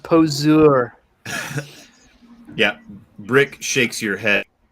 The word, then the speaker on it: poseur: Karen, what a poser. It's pronounced poseur.